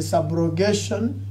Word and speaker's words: subrogation: Another principle is the subrogation. See, you don't have to use A, it is SU.